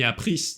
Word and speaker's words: appris: Рекомендую обратить особое внимание на немые буквы в конце слова. Например, j'ai appris le français. S не читается, ни appris, ни français. J'apprends, DS не читается.